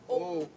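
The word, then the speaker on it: אוב: Ob or obe. It is spelled O-B, but it is pronounced O-B-E.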